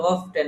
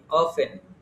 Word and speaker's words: often: এটা দেওয়ার মানে কি, এই যে এটারে অনেকে বলে অফটেন, এটা কিন্তু অফটেন না, এটা কি অফেন, অফেন, এটা হচ্ছে অফেন।